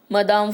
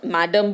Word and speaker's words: Madame: तो क्वेश्चन है, हु वॉज मदाम फॉइस्टर, है ना, मैडम भी आप बोल सकते हो बट स्पेलिंग ई डाला है इसलिए हम लोग मदाम बोल रहे हैं।